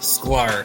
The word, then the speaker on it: Sklar: last name i think i know how to pronounce it but uh can you introduce yourself yeah so it's square s-k-l-a-r that's what i was gonna go for